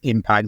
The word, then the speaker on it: Impaakt: saying this right absolutely it's just pronounce exactly as as impact the normal word we are just have